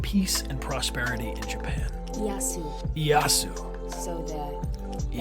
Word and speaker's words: Ieyasu: Ieyasu. So the L is silent. Ah, okay. Ieyasu.